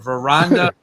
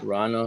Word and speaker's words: Vrana: Jakub Vrana avoids arbitration with a 3-year deal. So Rana, I think it's Rana or Reina. The V is silent.